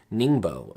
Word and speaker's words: Ningbo: city comes up called Ningbo ni and GBO Ningbo Ning ba so any that's how it's pronounced in any case I